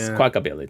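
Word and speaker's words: Squawkabilly: We do have Esquala Billy. Is that how you say it? Isabilly. Squala the parrot. I don't know. Oh, yeah. Squaka Billilly. Yeah. Squakabilly.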